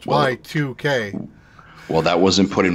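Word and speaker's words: YIIK: Right, so I just looked at the Steam page for what you said is Yeek. Yeah. They actually say how it's pronounced. It's pronounced Y2K.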